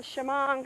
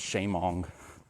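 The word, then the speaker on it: Shamong: us know yeah supposedly there was one in shimon not too long ago so that is how you pronounce it i always thought it was sheamong and at sign there's some people called accion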